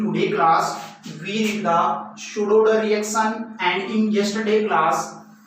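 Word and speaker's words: pseudo-order: In pseudo-Oder reaction P word is silent.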